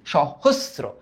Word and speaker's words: সহস্র: সহস্র, সহস্র। তার মানে এইটা যখন উচ্চারণ করতেছি তালব্য স আসতেছে, বাট সহস, হোস যখন আমরা বলতেছি সহস্র, তখন কিন্তু আমরা এস এর মতো উচ্চারণ পাইতেছি।